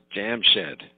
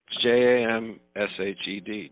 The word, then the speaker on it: Jamshed: That's Jamshed, Jam Shed, like a shed where you go to make some jams.